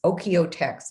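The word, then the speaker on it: OEKO-TEX: you can look for it's called oka text and it's oh it's really it's spelled really weird okay text t-e-x okey-o text that's how you can think of it o-k-e-o-t-e-x uh people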